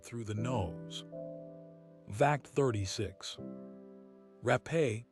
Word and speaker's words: Rapé: Rapé, pronounced Rapé, is the sacred Amazonian snuff.